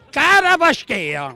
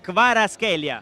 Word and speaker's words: Kvaratskhelia: Caravasqueia. Ma dopo 2 anni ancora non ci abbiamo imparato. Ma voi che pulite, non lo so pronunciare. Kvaratskhelia. No, Kvaratskhelia. Kravaskhelia.